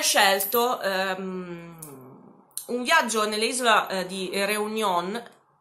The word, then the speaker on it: Réunion: un viaggio nell'isola di Réunion. Allora, l'accento è sulla E, quindi forse potrebbe essere Réunion, ma io l'ho sentito sempre pronunciare Réunion alla francese.